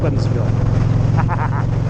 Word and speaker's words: Hensville: Hen. You have to say it like that. Put your um open your mouth and put your tongue at the back of your throat and say it with me. Hensville.